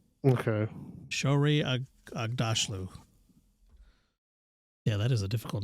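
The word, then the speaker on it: Aghdashloo: Agdashlu is how you say her name. Okay. Shorey Agdashlu.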